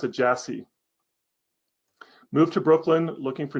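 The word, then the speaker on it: Iași: You pronounce it Jassy.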